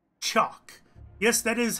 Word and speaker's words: TSIOQUE: gonna kick the tires on a game called chalk yes that is how it's pronounced it may not look that way but